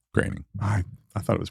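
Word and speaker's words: Groening: is it graining yeah it's spelled groaning but it's graining I I thought it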